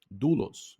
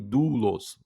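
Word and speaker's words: δοῦλος: Mas por que do e não dou dos? Porque o y que é, ó, aquele que parece um u, que confunde bastante na no meio da palavra ali, parece um u, né? Mas você aí você pode pensar, mas é assim que tá sendo, é assim que está sendo lido, dulos, né? Exatamente. Quando ele vem depois da letra do Quando ele vem depois do Omicron, ele, né, tá ali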